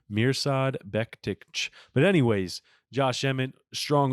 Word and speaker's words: Mirsad Bektic: Josh Emmett wins with the first round TKO and beats Mirsad Bektic, is actually how you pronounce his name. Mirsad Bektic.